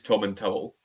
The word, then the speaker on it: Tomintoul: The good thing about that is whatever you say you're right as well because I mean the official pronunciation for us for the whiskey is Tom and Towel.